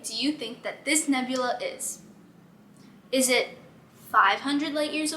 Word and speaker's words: nebula: A nebulae. Yes, you got the right answer. It’s pronounced a nebula, but the plural of nebula is nebulae which was your answer.